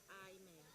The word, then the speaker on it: Ime: It's pronounced I-man, because everyone says my name.